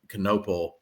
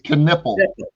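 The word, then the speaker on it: Knueppel: That's somebody I would, of course, Cooper Flagg you want on your team, but like that Knoppel or however you say his name. I mean, that's Knipple. a guy. It's Knipple.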